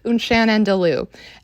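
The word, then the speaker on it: Un Chien Andalou: wacky little films to watch in class, is Unchan and Lou.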